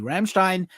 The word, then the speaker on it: Rammstein: Rammstein, if you're supposed to say it correctly, Rammstein has been sued for plagiarism by Cyborg Ninja for stealing the song Deutschland.